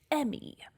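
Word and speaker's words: E.M.M.I.: it always it's always stylized as e dot m-m-i okay sure very much but they're just called the emmy and the game even in audio calls them the emmy so i know i'm not pronouncing it wrong for once anyways the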